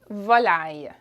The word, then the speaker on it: volaille: So meat and poultry is viande et volaille. Viande is meat. Viande et volaille. Volaille. Okay, there's an I sound at the end.